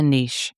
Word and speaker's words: niche: Number one, identify a niche or niche, depending on how you pronounce that.